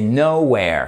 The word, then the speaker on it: nowhere: le top au lieu et c'est nowhere c'est pas no avec le bout de la bouche c'est nowhere alright sur will Canning nowher